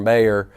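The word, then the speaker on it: Mayer: so I promise you I will try my hardest to call you Mr Mayor and to stop calling Mr Moyer and I apologize in advance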